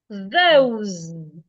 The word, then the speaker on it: those: You can have those. The S in this word sounds like a Z. Those.